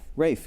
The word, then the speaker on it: Ralph: Rafe, yeah, I said it right.